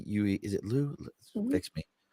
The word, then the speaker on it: Liu: Am I pronouncing it right? Liue. Is it Liu? Mhm. Fix me. It's Liu, Oh, right? yeah, Lou is good.